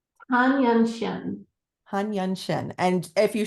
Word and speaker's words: Tan Yunxian: Now, properly pronounce her name because I want to get it right. Tan Yunxian.